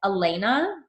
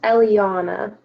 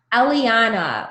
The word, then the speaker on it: Eliana: And then is it Elena? Is that how you say it? No, it's Eliana. Eliana, welcome.